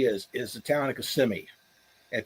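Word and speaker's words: Kissimmee: Uh uh people uh where Disney is is the town of CMI. And people laugh if you if you uh if you pronounce it kissing me, they they'll make fun of you.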